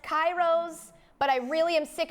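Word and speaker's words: K8IROS: shoe line it's called I'm being told it's pronounced Kairos but I really am sick of you guys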